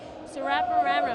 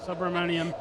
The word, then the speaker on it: Subramaniam: 9, we've got Amrita, if I can say her last name correctly, Surapararam. Oh, I really butchered that one, but from MLC. Subramaniam. Thanks, James.